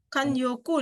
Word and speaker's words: 慣用句: Nah, di sini minasang perhatikan, ini ada namanya, bacanya apa nih, ada yang tahu nggak? Kan apa nih? 慣用句。 Kanyoku desu ne.